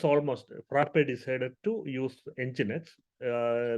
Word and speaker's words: nginx: nginx okay we call it nginx and the pronunciation is nginx somebody saying jigs or something you know all of this components